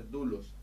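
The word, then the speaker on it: δοῦλος: u si el que se pronuncia dulos para una persona de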